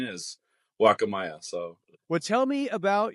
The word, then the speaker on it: Guacamaya: It is good, and I'll call it Guacamaya by slips, but yeah, the proper pronunciation is Guacamaya.